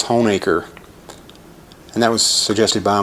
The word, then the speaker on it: Honaker: pronounced drum roll please hoenaker not honaker as so often is mispronounced but it is home acre and that was suggested